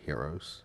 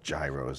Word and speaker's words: gyros: I know the men usually deal with the heroes right I said it right some people call it gyros and that's not know it's a year oh